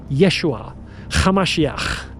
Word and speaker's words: Yeshua Hamashiach: call them Yeshua Hamashiach, with a ch sound.